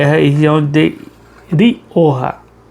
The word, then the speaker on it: Rioja: a região de de Orra. A gente se escreve como é rioja, mas a pronúncia que os espanhóis sempre utiliza é é orra.